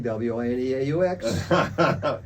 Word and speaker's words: Wineaux: Mind the spelling, W-I-N-E-A-U-X. And wine Wait, we had to spell it? W-I-N-E-A-U-X. Really? Oh yes, en français, Wineaux.